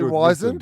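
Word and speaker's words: wizened: Oh, are we definitely wisened or wizarded?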